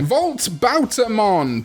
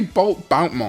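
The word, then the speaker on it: Volt Boutamon: Volt Bautamon. Bautamon. I say Bolt Boutmon, but I'm 100% wrong in this, and I think this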